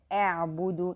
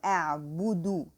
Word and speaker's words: أعبد: So a'budu, the ba is bu, not bo, and the dal is do, not do.